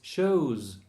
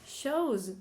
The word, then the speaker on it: shows: And show, it's not shows, it's shows. Oh. With a Z. Shows.